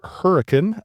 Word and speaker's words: Hurricane: southern Utah to a small town which is pronounced hurricane.